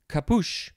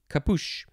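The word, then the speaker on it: capuche: next and last word for this episode is kapoosh c-a-p-u-c-h-e kapoosh noun from circa 1600 it just means a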